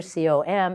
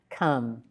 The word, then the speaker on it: com: However, C-O-M is not com, but come.